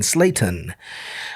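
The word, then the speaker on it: Slaton: My lovely wife has that Panamanian proper pronunciation. And she always says, in Slayton, it's going to be in Slayton. I can't even, it's hard for me to even say it properly. Slayton. I say Slayton.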